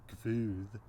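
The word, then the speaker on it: Guð: I wonder if it's somehow suggesting the pronunciation that emerges later in Iceland, Gvuð, with that intrusive V there, and I wonder if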